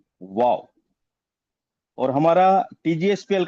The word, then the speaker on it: WOOOW: जो यह वाओ है इसकी स्पेलिंग थोड़ी सी हटके है। Right W triple O डब्ल्यू वाओ और हमारा TGSPL का